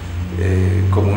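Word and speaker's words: Qom: Así que debemos decir en la Argentina pueblo Com. Pueblo Com. Se escribe Q-U-O-M. O-M, Q-O-M.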